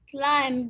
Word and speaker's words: climbed: Has she climbed It's a a climb. mountain? Sorry. It's a climbed, not climbed. B is silent here.